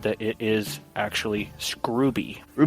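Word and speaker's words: Scruby: And a lot of people pronounce his last name as Scrubby, but he said that it is actually Scrubby.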